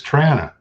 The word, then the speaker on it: Toronto: their home right now you didn't say it right it's trana toronto yeah cassettes are being